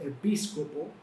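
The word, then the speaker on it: ἐπίσκοπος: palabra griega que se que se se se pronuncia así epíc opo y la traducción más cercana es supervisor supervisor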